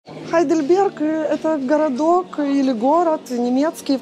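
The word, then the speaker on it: Heidelberg: вы увидите в гейдельберг по-немецки это хайдельберг есть еще такие примеры например гамбург и hamburg ну вы знаете городок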